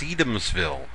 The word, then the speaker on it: Sedamsville: Our next great deal is a single-family home located in Riverside, also known as Sedamsville, but apparently more properly pronounced Sedamsville. Let me zoom in here and you can see some nice features of this place.